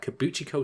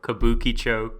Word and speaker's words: Kabukicho: different this time we're gonna be talking about kibou Chico Sherlock case file number 221 if I'm not